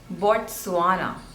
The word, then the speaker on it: Botswana: Next one is Botswana, Botswana, Botswana. The stress is on the third syllable, Botswana, Botswana, Botswana, Botswana, Botswana.